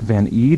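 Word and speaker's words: Van Eede: Your vocalist and songwriter, Nick Van Eed, is that the way to pronounce his name?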